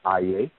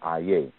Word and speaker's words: Aye: So just like we have Aye, which is spelled A-Y-E, Aye, and Aye is the residence or the place of the person.